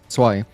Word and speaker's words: zwei: I remember another German friend in our Discord, Halder, he explained to me how to pronounce zwei. And he told me that Z is like a TS sound, like ts.